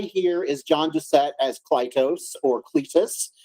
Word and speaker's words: Clytus: So first guy here is John Doucette as Clytus, or Cletus. They call him Cletus. It's spelled Clytus in the credits, but it's spelled Cletus like the yokel in The Simpsons, which I'm sure you guys were thinking the whole time.